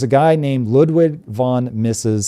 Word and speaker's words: Mises: So there was a guy named Ludwig von Mises. Some people pronounce it Mises, whatever.